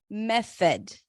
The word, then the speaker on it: method: And then the next one, we have method. Another word with a TH. The O is a schwa. Me, primary stress.